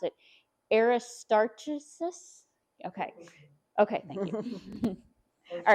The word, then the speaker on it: Aristarchus: to do it how Ed told me to pronounce it. Aristarchus.